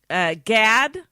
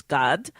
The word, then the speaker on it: Gad: ruben in english and gad i guess you'd pronounce it that in english in in hebrew it's god and uh not half